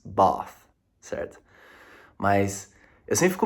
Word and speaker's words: Bath: Inclusive, o meu vô, ele zoou um pouco a minha pronúncia, porque eu fui falando Bath, Bath, Bath, e ele diz Bath, certo?